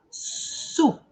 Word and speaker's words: soup: Sopa a gente pronuncia soup, soup.